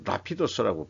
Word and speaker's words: Rapidus: 이게 작년에 벌써 레피던스 근데 이제 라피도스라고 발음을 하는데 래피드라는게 이제 신속한 빠르게